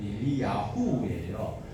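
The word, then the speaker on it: אליהו: 엘리야, 우리는 엘리야라고 기록되어 있는데 원어대로 발음을 하면 엘리야후예요.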